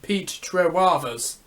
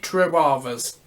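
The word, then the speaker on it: Trewavas: Pete Trewavers. That's it. Pete Trewavers.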